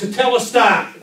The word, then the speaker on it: Tetelestai: Tetelestai.